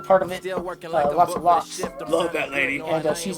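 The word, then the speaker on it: Locs: It's spelled L-O-C-S like Lokes, but it's Lots of Locks.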